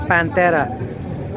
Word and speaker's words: Pantera: all pronouncing her own it's not Panther it's pancetta so there are there's